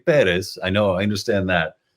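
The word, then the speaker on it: Pérez: like wait a minute you pronounced your name Perez uh which is a very angelized way of saying it's supposed to be perz I know I understand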